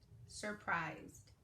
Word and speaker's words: surprised: That E is silent, so it makes the I say its name. Surprised.